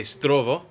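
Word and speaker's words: здраво: you want to say hello you can say Stovall and how are you would be kaku see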